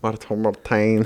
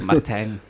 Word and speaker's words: Martijn: And then Martijn, I think, or Martine, and I'm not sure how you pronounce it. Martijn. Martijn. Martijn. Yeah, It's the Dutch.